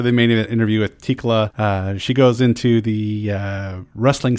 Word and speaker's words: Thekla: So, hi, my name is Thekla, aka the. I guess Thekla is the right way to pronounce it. Thekla is also fine. Thekla is also fine. In Japan, they say Tekura.